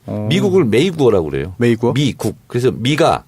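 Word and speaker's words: 美国: 미국을 메이구어라고 그래요. 메이구어? 미국. 그래서 미가 메이? 아름다운 미자가 메이로 발음 나고 메이. 국이 구어. 메이구어.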